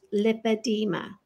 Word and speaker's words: lipedema: And in the United States, it's pronounced lipedema. Mm-hmm. Right now, it might be pronounced different in Europe. I think they have an O in it.